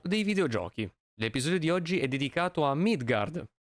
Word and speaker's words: Midgardr: Today's episode is dedicated to Midgardr— the final "r" is silent, mind you—an Italian indie title developed and published by Holy Radish.